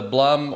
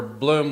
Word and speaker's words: Blum: installed a lot of the Blum or Bloom, whichever way you prefer to pronounce it, drawer glides.